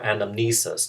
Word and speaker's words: anamnesis: in greek first is anonymousus or anamnesis to use the more familiar pronunciation in english anamnesis means remembrance or